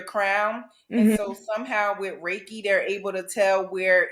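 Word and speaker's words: Reiki: going to know is is Ricky am I saying it right Ricky healing is that raik raiki raiky raiki yeah raiki healing so I have not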